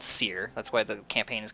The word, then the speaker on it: Syrr: got accosted by the the the kingdom's called Seir. That's why the campaign is called the tyrant of Seir. I'll spell it out here.